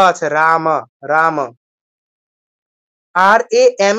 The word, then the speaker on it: রাম: কৃষ্ণ হরে কৃষ্ণ কৃষ্ণ কৃষ্ণ হরে হরে হরে রাম হরে রাম রাম রাম হরে হরে তো রামটা